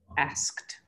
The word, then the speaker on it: asked: last thing that you asked comes after a k so it's not pronounced as a separate syllable in fact here it's pronounced like a t asked okay so it's really